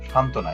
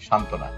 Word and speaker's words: সান্ত্বনা: যেমন সান্ত্বনা এখানে সংযুক্ত ব্যঞ্জন ধ্বনি আছে নয় তো এর সাথে বফলা যুক্ত আছে এই বফলাটা কিন্তু উচ্চারণ হয়নি সান্ত্বনা একেবারে উচ্ছ্বাস উজ্জ্বল ইত্যাদি বফলা